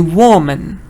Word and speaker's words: woman: because it's a schwa it's not man I don't say whoa man I say woman woman okay is good